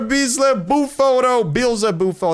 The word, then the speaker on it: Beelzebufo: Hey, we got a bees buou. That's how you pronounce it.